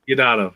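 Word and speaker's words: Deodato: Yes, Diodato.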